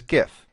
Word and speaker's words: GIF: GIF pronounce it as GIF it makes more sense to people that way and it is by far the more popular way to say it it's supposed to be Jif like the peanut butter so there's a big